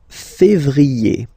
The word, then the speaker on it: février: yé, janvier, then comes février, février, okay, remember when you have this accent aigu on the top of then you pronounce it E, okay?